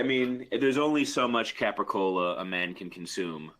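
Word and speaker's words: capicola: I mean, there's only so much capricola a man can consume. I believe it's pronounced gabagool. Is that right?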